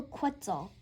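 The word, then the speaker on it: quetzal: And a rhyme, a reminder, quitzel rhymes with pretzel.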